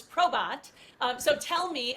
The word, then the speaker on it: PROBAT: Quick question, and I realize as we've been talking to you, Scott, throughout the interview here, I have been pronouncing the name of PROBAT incorrectly as PROBAT. So it's PROBAT.